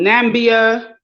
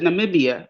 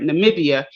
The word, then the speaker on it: Namibia: sudane to say um nambia no is it Namibia I think I'm saying it right Namibia they're not going to